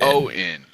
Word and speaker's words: Owen: Ian and Owen, if you pronounce their names, is one letter off. Ian, Owen. Owen. It's easy. A vowel. It's a vowel. It's Ian, Owen.